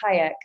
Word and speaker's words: Hayek: straightforward last name is hayek it's pronounced like salma hayek um and yeah i'm